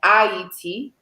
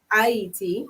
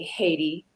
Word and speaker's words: Haiti: So, in the dialect of Creole or French Creole, what we speak on the island, you would pronounce Haiti as Haiti, Haiti.